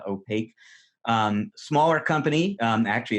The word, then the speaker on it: Opaq: native security company called opaque OPA q is how it's spelled it's pronounced opaque smaller company actually it's